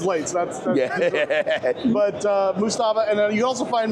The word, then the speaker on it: Moosestaffa: There is an S after the E. A lot of people, the AI can't pronounce it right. They call it Moosestaffa, and that's wrong. And Sim Caesar bugs me about it too, but it's Moosestaffa. It's to say it's 2 words.